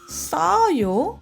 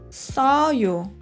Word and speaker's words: 써요: Aqui, 셔요 e 써요 têm sons diferentes. 셔요, vento precisa sair. 셔요. 써요, amargo, o vento não sair. 써요.